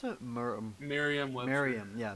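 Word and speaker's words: Merriam-Webster: the same day uh what how do you pronounce it miriam miriam yeah merriam webster i like i used to like but yeah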